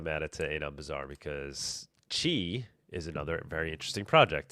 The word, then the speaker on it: Quai: built on top of Kai. Um, which is very cool. Oh, no. It might be It might be pronounced chi. I'm not sure. It's pronounced chi. You're right. It's pronounced chi.